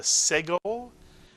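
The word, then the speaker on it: סגול: It's the segol, and it's pronounced as in the word bed.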